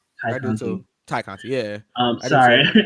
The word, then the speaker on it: Tay Conti: I really like Tay Conti. I do too. Ty Conti, yeah. I do Sorry, too. I really like Tay Conti. Because it's spelled Tay, but you know.